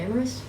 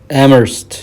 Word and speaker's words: Amherst: death they am hurt that's how you say it amorous amherst amherst amherst amherst academy principal leonard humphrey died suddenly of brain congestion at age 25.